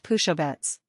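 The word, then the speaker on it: Pušovec: S equals sch or sh. Pusovec, see Appendix C, is pronounced pushovets.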